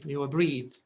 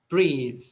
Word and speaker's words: breathe: the the end uh it changes the word from noun to verb and it also changes the pronunciation bath bath breath breathe okay so bath bathe